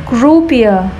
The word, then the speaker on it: croupier: Croupier, croupier, ngồi, người, người cứ ngồi ở sòng bạc á, người hồ lì, người hồ lì ở sòng bạc á.